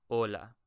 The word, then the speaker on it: hola: now just notice that we do not pronounce the h here so this is just for decoration so I don't say hola I always say hola the H is for decoration and then the Y